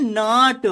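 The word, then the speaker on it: know: यहां पे क्या लिखेंगे नो व नो इसमें के साइलेंट है तो नो मेंस जानना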